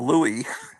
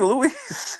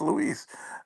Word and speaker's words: Luis: and I you know Captain Strange was calling him Louie. I said that's supposed to be Louise and he says I don't know. I said, "Just trust me, it's Louise."